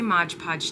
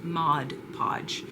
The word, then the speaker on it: Mod Podge: I say Modge Podge, too. I actually in that footage where I said Mod Podge, I had originally said Modge Podge and had to re say it because I say it wrong. I've always called it Modge Podge, but it is Mod Podge.